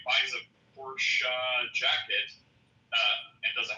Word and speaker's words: Porsche: You just call a Porsche. Because that's how it's pronounced. I know. And then there's people like, "Yeah, man. I got a Porsche."